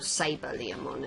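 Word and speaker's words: SaberLeomon: ladies and gentlemen is saba liamon or sabre liam on it as he's pronounced in the english dub and i think i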